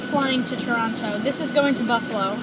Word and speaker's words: Toronto: is no senator yeah there is no second T in Toronto well that's how the Canadians pronouncing the Canadians pronounced at Toronto but it's actually Toronto